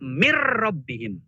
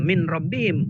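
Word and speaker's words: مِنْ رَبِّهِمْ: Kan tulisannya min rabbihim tapi bacanya mir rabbihim. Nunnya nggak dibaca. Kalau tadi kan dibaca nunnya. Min khairin, nunnya dibaca. Tapi ketika min rabbihim bukan min rabbihim, mir rabbihim. Itu nunnya jadi masuk ke ro.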